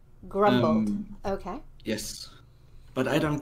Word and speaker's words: Grombold: for yourself um yeah i would pronounce the name grumbled grumbled okay yes but i